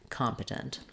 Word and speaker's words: competent: Because the next two syllables are unstressed, they're going to have reduced vowels. So rather than the E saying any kind of clear vowel, it's just going to be a schwa here, compa, compa. No matter how I say it, those first two syllables sound that way, compa.